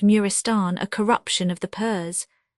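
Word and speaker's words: Maristan: 574 Arab Marristan pronounced Murristan a corruption of the pers by Murristan equals place of sickness a hospital much affected by the old gbers.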